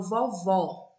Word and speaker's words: vovó: E quando eu falo vovó, a vogal O da última sílaba é aberta, porque mudou o acento.